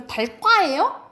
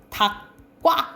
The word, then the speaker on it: 닭과: 기억에 오니까 뭐야 이거 달과예요? 이상하지? 이거는 적용은 용언일 때만이에요. 이거는 용언이 아니라 체언이잖아, 그치? 이럴 때는 적용되는 환경이 아니야. 그래서 여기서는 음절의 끝소리 규칙 적용돼서 닭과 이렇게 발음된다라고 보시면 돼요.